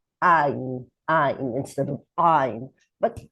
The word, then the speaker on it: Ayin: You hear that I am pronouncing it like an Aleph that comes from deeper in the throat. Ayin, like a hard Aleph.